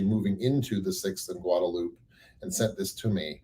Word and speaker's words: Guadalupe: eyes on six in Guadalupe because I or guadaloop I'm sorry it's guadaloop pronounced guadaloop here in Austin Rebena gotta get used